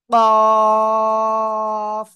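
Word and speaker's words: ق: কফ, চার আলিফ টেনে উচ্চারণ করতে হবে, জোরে বলেন।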